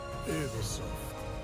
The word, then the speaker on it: Ubisoft: It is actually pronounced Ubisoft. Ah, the French.